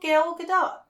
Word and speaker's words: Gal Gadot: She did this, I'm sure you're saying her name wrong. No, Gal Gadot.